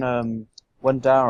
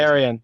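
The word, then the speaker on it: Dareon: remember Feast the Crows when Darren I'm is it kidding. Darren or Darian? I don't know how you say it. Darian, yeah, and then Arya kills him.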